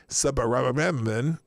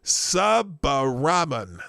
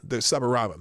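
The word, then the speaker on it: Subbaraman: Gain-of-function researchers is Needy Subaraman. I'm sorry, I butchered that name because it's Subaraman. Subaraman, there you go.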